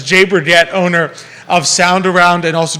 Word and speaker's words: Berget: Charlottesville, and then I think I might have pronounced it wrong. It's Jay Berget. Oh, you said it with a I was French doing a little accent fancy. before. I was doing a little too Berget, fancy on it, but it's Jay Berget, owner